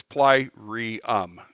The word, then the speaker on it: Plyrium: Although I picked one that's freaking hard to pronounce, Plyrium. It's Plyrium, and it's hard to. It doesn't roll off the tongue very easy. So Plyrium Forge.